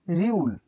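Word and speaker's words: 리을: এই বর্ণের উচ্চারণ রিউল। তাহলে রিউল, রিউল, রিউল, রিউল। রিউল প্রথমে র, প্রথমে র, মাঝেও র, নিচে ল। র, প্রথমে র, মাঝে র, আবার নিচে ল উচ্চারিত হয়।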